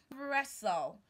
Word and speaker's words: wrestle: fastened and not fastin wrestle to wrestle to wrestle with someone and not to wrestle mm-hmm is wrestle Suffern